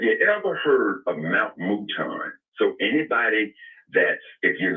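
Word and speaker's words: Mouton: Have you ever heard of Mount Mutan?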